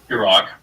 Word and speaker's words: Garrock: The human pronunciation is Garrick, orc pronunciation is Garrock.